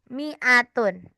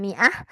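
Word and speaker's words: مائة: Bahasa Arabnya 100 adalah mi'atun. Apa? Mi'atun. Iya betul. Mi'atun. Ya, mi'ah. Itu bisa bacanya mi'ah, bisa mi'atun. Nah, jadi kalau kalau 20 isruna 30 salasuna.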